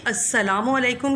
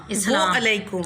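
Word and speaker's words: السلام عليكم: का ख्याल रखिए कि अस्सलामु अलैकुम के हिज्जे में, क्योंकि ये अरबी मुरक्कब लफ्ज़ है, हाँ जी, इसलिए लाम साकिन है। बहुत सारे बच्चे या आजकल जो सोशल मीडिया पे हो रहा है इस्लाम अलैकुम, हाँ जी, दरमियान में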